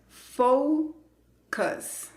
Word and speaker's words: focus: La primera sílaba se escribe con una O, la letra es O, pero la pronunciación es con el diptongo O, fo.